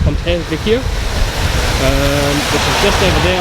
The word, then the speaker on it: Ponte Vecchio: Heading to Ponte Vecchio, I think is how it's pronounced, Ponte Vecchio, which is just over there on our right, the big famous building in Florence.